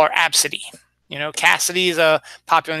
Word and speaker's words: ABCDE: girl's name the mother named the daughter ABCDE or as they pronounced AB City and the Southwest gate